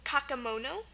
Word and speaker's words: kakemono: The first one is kakemono. K-A-K-E-M-O-N-O. So our E in the middle here makes a schwa sound, the sound. So it's pronounced kakemono, not kakimono or kakemono.